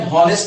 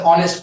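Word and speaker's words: honest: हॉ दे रहा है, लेकिन ऑनेस्ट में हॉ का प्रोनाउंसिएशन नहीं है। फिर इसको कभी भी हम हॉनेस्ट नहीं पढ़ते, क्या पढ़ते, ऑनेस्ट पढ़ते। क्या पढ़ते हैं, ऑनेस्ट पढ़ते।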